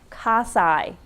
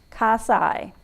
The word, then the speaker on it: cocci: shape of their cell there are three shapes cos i that is spelled c-o-c-c-i casai these are little round balls that resemble a